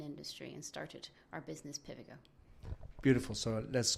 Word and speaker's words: Pivigo: teacher was talking about this acronym PVGO, which stands for Present Value of Growth Opportunities, which is related to share prices. And for some reason, she pronounced it Pivigo whenever she talked about it.